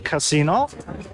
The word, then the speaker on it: casino: We're on a terrace, the Campari terrace, in front of the casino, as it's pronounced in Italian, because casino means shit show in Italian. Yeah, so it's very important, the intonation, casino, rather than casino.